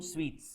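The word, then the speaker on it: suites: UI v a l e NT it's actually pronounced as equivalent but there is one in it equivalent equivalent total equivalent single room sweets single room sweets single room SU i t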